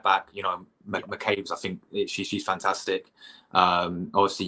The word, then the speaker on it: McCabe: McCabe, yeah.